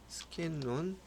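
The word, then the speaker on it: Scanlon: 스킨론이라고 영화 발음이 틀렸어 스킨로가 아니라 스킨론 플랫 이걸 한번 읽어만 볼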